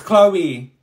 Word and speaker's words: Chloe: that you no do it look like a Cho to you Miss it's Chloe my name is Miss oops [ __